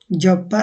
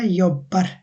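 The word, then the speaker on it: jobbar: জব্বার হবে না, এটা হবে ইয়ব্বার, ইয়ব্বার।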